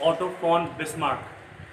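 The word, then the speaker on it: Otto von Bismarck: ध्यान रहे, जर्मनी में वी को फाव बोलते हैं. That's why इट्स ऑटो फॉन बिस्मार्क।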